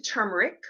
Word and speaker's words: turmeric: But it is related to turmeric or turmeric, depending on how you pronounce it.